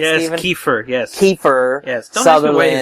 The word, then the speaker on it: Kiefer: Yes, Kiefer, yes. Kiefer. Yes, don't ask me why his name is spelled that way.